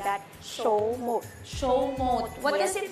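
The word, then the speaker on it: Số Một: It is in Tag, if you read it in Filipino, it's Somot. But how do you pronounce it in Vietnamese? Vietnamese say that show mode.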